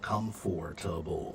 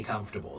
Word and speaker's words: comfortable: Comfortable. Right. So, there are two ways to say comfortable. Some people say comfortable and some people say comfortable. They're both fine.